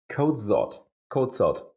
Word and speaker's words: Kocot: Well, how do I say it right? Kocot. The C becomes a Z actually, so it's quite complicated.